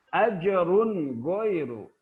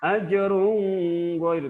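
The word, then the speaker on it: أَجْرٌ غَيْرُ: Ajrun ghairu, jelas cara bacanya. Tidak boleh didengungkan. Ajrun ghairu, tidak boleh.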